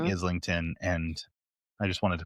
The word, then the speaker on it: Islington: in fact is Islington, no S, like Oh, an isle, ISL, uh, okay.